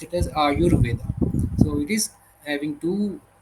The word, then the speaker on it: Ayurveda: va and when we combine together we uh pronounce it as aayurveda.